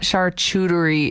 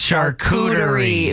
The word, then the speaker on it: charcuterie: steph wrote in saying it's not charcuterie it's charcuterie sorry we're not bougie